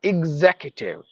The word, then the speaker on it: executive: extravagant executive executive no executive IG IG with the z sound executive facial fasten fatigue forfeit